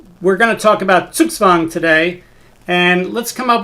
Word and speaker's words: Zugzwang: when you see z-u-g-z-w-a-n-g think of the w as being from wagner and think of the z's as being ts's and now you get